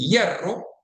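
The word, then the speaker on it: hierro: We make a clear distinction. for example between yero and sherro. Yero means iron, sherro means mistake. And that is something that doesn't happen in other Spanish accents. They tend to pronounce both as yo.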